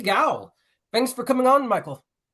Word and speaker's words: Gough: the last name is actually pronounced Gough, like cough with a G.